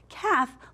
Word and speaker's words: calf: Calf, look right there. We don't say that L. That L is our ghost letter. It's very quiet. So calf.